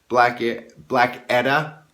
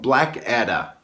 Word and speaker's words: Blackadda: of the sons of Black Edda. I've been saying it wrong for almost a year, everybody, so I'm finally admitting that I'm wrong. So let me go ahead and pronounce it correct.